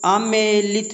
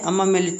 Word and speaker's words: आमेलित: है आमेलित, ठीक है, आमेलित है ये, आमेलित है, अमामेलित नहीं है, ठीक है।